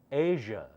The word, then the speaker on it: Asia: continent you should know that is pronounced as Asia not Asia a Asia how do